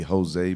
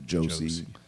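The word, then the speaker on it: José: Ricardo I said it I was supposed to be Jose but they were worried that English speakers would pronounce it Josie it was kind of a girl's name so they want Ricardo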